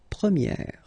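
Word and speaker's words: première: change quite much because if you think about the masculine form you pronounce it premier. Okay? And then for the feminine form you will get premier. Okay? So it's open this a sound premiier. premier and then second example.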